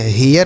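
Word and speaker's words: hair: एच ए आई आर, तो एच से ह, ए आई के साथ आर है तो इसका उच्चारण ए होगा, हे। आर से र, तो यह हेयर हो गया।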